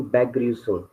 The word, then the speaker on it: Begrüßung: बैग्रीसूम, pronunciation बैग्रीसूम।